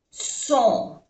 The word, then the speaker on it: sont: Son. O-N-O. Son. No se pronuncia la T.